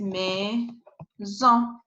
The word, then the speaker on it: maison: But if you have A with E, you need to pronounce E. As you saw, it is maison, maison.